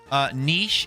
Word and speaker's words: niche: Niche is just niche. Yeah, it's, niche. it's spelled like Neesh, niche.